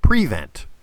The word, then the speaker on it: prevent: Football, professional football is the only place where the word prevent is pronounced prevent. When it's when it's late in the game and the defense wants to protect the lead, they play the prevent defense.